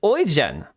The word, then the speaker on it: Eugen: It's pronounced Oen. Huh, interesting. Oyen.